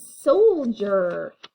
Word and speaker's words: soldier: This part is tricky because of that D. It should say soldier, but we say it like a D. We say a J almost. Soldier, soldier. There's no G in there or J to make it say that.